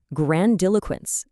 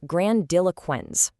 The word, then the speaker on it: grandiloquence: Section one, meet grandiloquence, the art of showy talk. First things first, let's get the actual mechanics down. This word has exactly four distinct syllables. It's pronounced grandiloquence.